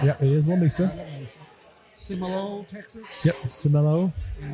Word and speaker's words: Lamesa: And it's pronounced Lamesa, by the way. Yep. It is Lamesa.